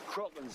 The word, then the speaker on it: Kraken: Always heard it said cracking. Oh, with a long A? No. Crocken's how it's pronounced in the original Scandinavian, and Kraken's closer to that.